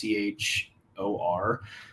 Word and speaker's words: Achor: It's called The Happiness Advantage by Sean Achor, I think is how you pronounce it. It's Achor.